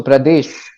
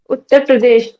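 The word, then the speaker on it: Uttar Pradesh: Sir as I said so Pradesh utar Pradesh not prades H say utar Pradesh sure sure right so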